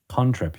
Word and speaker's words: cantrip: Contrip. You have to say it like that. It's conjuration. It's a contrip.